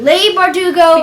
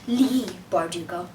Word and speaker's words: Leigh Bardugo: Pronouncing it Leigh Bardugo. Because we thought it looked like sleigh, and we are very proficient speakers of Booklish. Yes. So, sorry about that, but the author's name is pronounced Leigh Bardugo.